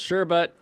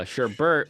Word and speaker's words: sherbet: go uh technically pronounced sherbet as the usual uh Sherbert with the second R syllable pronounced Sherbert is less common in Britain uh blah blah blah